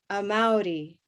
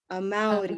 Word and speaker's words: Amaury: So the stress or our hand is going to go open on that second syllable. Everybody try that. Amaury. Amaury.